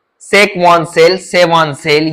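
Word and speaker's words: Schwann: में सेल पाई जाती है, उसको बोलते हैं सेकवान सेल, या कौन सी प्रोनाउंसिएशन आप कुछ भी निकाल सकते हो। उस सेल को बोला जाता है सेकवॉन सेल या सेवॉन सेल या स्वान सेल।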